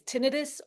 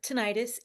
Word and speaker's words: tinnitus: It's tinnitus or tinnitus. Either one is correct, and I've heard it both ways already.